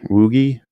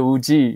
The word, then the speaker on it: WUGI: launched is uh uh symbol w-u-g-i woogie yeah is that the pronunciation yeah that's how you speak 5g in chinese okay people call it the wuji you know if you